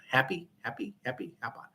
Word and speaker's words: Hapi: His name was Hapi. Ha pi, happy or depending upon how you say it, happy.